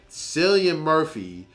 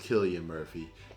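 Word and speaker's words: Cillian Murphy: you need to go ahead and go get selian Murphy is I apologize he said his name is pronounced Killian Murphy he is amazing dude it's time for people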